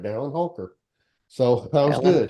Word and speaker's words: Dallin Holker: Dallin Holker. Dallin Holker. I did say it right, Dallin Holker.